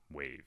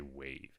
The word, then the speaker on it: WAV: so wave is pronounced wave right wav you don't say it like that you just say wave and it it is